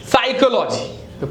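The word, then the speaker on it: psychology: पी इ सा psychic again the प इ silent साइकोलॉजी पी is anything वि प एस य रि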